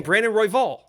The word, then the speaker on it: Brandon Royval: You're saying it like there's an E in there, and it's embarrassing for. I'm saying Brandon Royval.